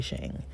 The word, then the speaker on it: Sheng: The L Word uh he pronounces his name Leo Shang he says that uh most Mandarin speakers would actually say sh but he says Shang and so he says that's how he introduces himself and so I will